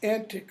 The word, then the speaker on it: antic: Antic. Notice how I'm pronouncing that. That is the pronunciation that would have been close to Shakespeare's. Okay? We read that word because it's spelled a certain way, and we say antique, meaning really old. It has both that meaning and antic.